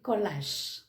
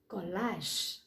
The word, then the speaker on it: collage: is l-l-e-g-e but this there is collage c-o-l-l-a-g-e there is no sh or shoe sound but that's g a